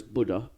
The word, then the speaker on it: Bleda: Yeah, it is Bleda. Nice. Yeah. And I think I remember reading something like they pronounced it though as Buddha, so Bleda is his name, and that's where we get Budapest.